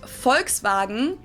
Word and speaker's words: Volkswagen: English speakers call this Volkswagen, while in Germany we usually just call it VW, VW, VW. But even if we did go by the full name, it would be pronounced Volkswagen and not Volkswagen.